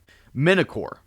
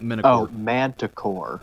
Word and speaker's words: manticore: a uh hold on minochor that's the one i think let me check yep manticore manticore yup i can never remember how to pronounce it yeah there's a t in it yeah manticore um but